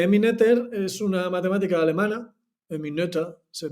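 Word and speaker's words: Emmy Noether: es una matemática alemana en mi nota se pronuncia en mi nota es una matemática alemana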